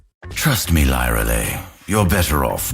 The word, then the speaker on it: Lyralei: A cold wind blows for you tonight, Lyralei. But she does reveal the correct pronunciation of her own name through her Arcana. Lyralei, the Windranger.